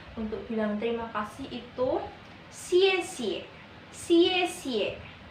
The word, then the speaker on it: 谢谢: Pronunciasinya X, I, E, ada nada 4. Nada 4 itu yang ke bawah tandanya ya, yang ke bawah. Xie xie, X, I, E, X, I, E, tanda 4, nada 4 di atas huruf E, ke bawah gini.